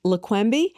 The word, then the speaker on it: Leqembi: So those would be Leqembi. Forgive me if I'm not pronouncing them correctly.